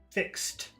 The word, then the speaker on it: fixed: blue form a fix fixed fixed that's difficult for people to pronounce what you do is you say fix stop fix T fix T fixed fixed you always take the